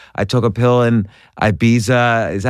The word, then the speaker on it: Ibiza: One of your songs, I Took a Pill in Ibiza. Is that how you say it? Ibiza?